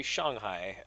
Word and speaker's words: Shanghai: passports things like that so note I say Shanghai just because that's what I'm used to now that's the actual pronunciation so I do speak a good bit